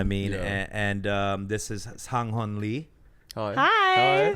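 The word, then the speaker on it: Sang Heon: Sang-hon.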